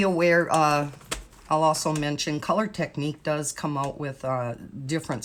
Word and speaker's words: Technik: But you can just do a search on Amazon for the Color Technique, and Technique is Technik. I believe it's pronounced Technique.